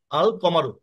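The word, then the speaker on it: القمر: আর কমারিতে লাম সহ উচ্চারিত হবে যেমন আশশামসু আল কমারু কমারের ক্ষেত্রে আল যুক্ত হবে মানে লাম আমাদেরকে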